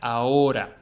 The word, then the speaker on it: ahora: todos los drones ahora. No, dispara todos los drones ahora. No, dispara todos los drones ahora. Ahora. A mute H sound, much like most H's in Spanish. This word sounds like ahora, not ahora or ahora, but ahora.